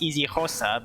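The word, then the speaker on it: isiXhosa: but I don't know like I know it's pronounced easy HOSA but I don't know what kind of language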